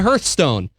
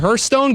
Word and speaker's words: Hearthstone: I just trained myself because phonetically I was reading it hear cuz there was an e in there and that's the problem